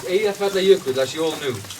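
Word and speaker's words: Eyjafjallajökull: It's Eyja Fjallajökull, as you all knew, right? Eyja Fjallajökull. Okay. Anyone forget again? But now I'm going to teach you how to say it. Break it down. Eyja Fjallajökull.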